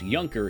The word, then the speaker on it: Junker: some money for drugs a yunker pronounced yunker is a minor Noble in medieval Germany I did not know